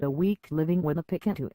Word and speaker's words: Picanto: word is it once the can't part to be said as you say canteen and definitely not in the way you'd say can't it's a positive perception